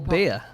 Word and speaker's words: Biya: president of Cameroon, Paul Biya, who's been president since 1982. Paul Biya. Paul Biya. Oh, yeah. I've only just realised what it sounds like. For a beer. It's not spelled like that. It's B-I-Y-A.